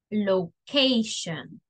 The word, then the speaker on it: location: The pronunciation of locación or dirección sería location, all right?